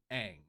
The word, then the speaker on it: Aang: Now, right there is actually where they go wrong in the movie. Because you had one job! The movie, literally, the entire show, they keep calling the character Aang. His name is Aang.